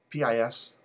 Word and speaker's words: PiS: Right now we have, am I pronouncing it right, PIS? P-I-S?